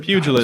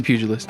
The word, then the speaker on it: pugilist: Is it with a Pugilist. It's with a hard G? Okay. Yeah, I never have pronounced that word. I've only ever read it. Yep, Really? I think same. it's pugilist. It's pugilist.